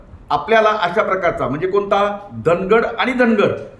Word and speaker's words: धानगड: कडाडून विरोध आहे कारण आपण जर पाहिलं तर धनगड सॉरी धानगड नावाची एक जमात महाराष्ट्र मधून इतर